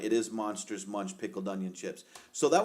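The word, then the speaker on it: Monster Munch: Well, it says, I mean, Kelly says it rhymes with crunch. And so you're actually right. It is Monsters Munch pickled onion chips.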